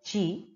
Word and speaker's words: qi: it's a balance between q i that is pronounced as g in the body that